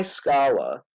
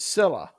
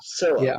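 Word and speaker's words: Scylla: He can either go by Scala and lose like I think it was like half of his crew to the monster, right? Sila, I think it's pronounced. Sila, right?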